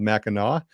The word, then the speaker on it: Mackinac: lately, is Mackinac Island, not to be confused with Mackinac. That's not how we pronounce it here. It's called Mackinac.